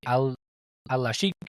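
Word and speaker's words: Alalshikh: This promoter, I believe I'm pronouncing his name correctly, Al-Sheikh.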